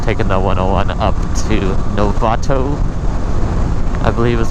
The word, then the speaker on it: Novato: I thought this would be a less trafficked way, but I probably should have just taken the 101 up to Novato, I believe is how it's pronounced.